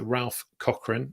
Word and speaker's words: Ralph Cochran: me on LinkedIn and you did pronounce my name right so Ralph Cochran it's Scots Irish which is actually better